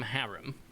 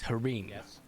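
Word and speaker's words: harem: We say it like they say it in the anime, but a haram, which is a group of concubine or potential um love interests is harim.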